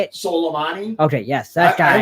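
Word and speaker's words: Soleimani: say his name how do you say it solomani okay yes that I like salami better I'm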